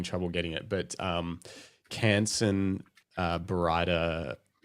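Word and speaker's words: Baryta: I believe it's Barita. Barita. Okay. And the reason I'm fairly confident of that is I met with the Ilford guys in the paper division, and they seem to pronounce it that way.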